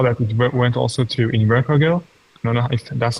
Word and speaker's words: Invercargill: you you saw that it went also to invercargill no no that's how it's pronounced by the way and even the try